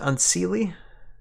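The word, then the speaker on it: Unseelie: Um the unse is that how you pronounce it? Unseely. Yes.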